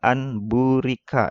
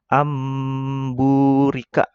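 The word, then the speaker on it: أَنْ بُورِكَ: Nah, itu nun mati ketemu ba itu tidak bisa dibaca anburika ya. Kalau di Quran ya. Nah, ini harus dibaca amburika. Ya, agak didengung ya.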